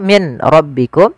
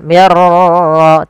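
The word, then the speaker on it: مِن رَّبِّكُمْ: Di sini nun sukun bertemu ro. Maka di kita namakan dengan idgham bila ghunah. Hanya masuk saja nunnya kita masukkan ke ro dihilangkan awalnya. Min rbikum. Karena ketemu ro diganti mirro langsung tidak boleh ditahan mirar tidak tapi langsung saja kemudian birabbikum adzim mim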